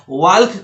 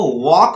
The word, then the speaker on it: walk: हैंडकरचीफ को हैंकरचीफ बोलना है, वेडनेसडे को वेंसडे बोलना है, वाल्क को वॉक बोलना है, वॉक, और टाल्क को टॉक बोलना है।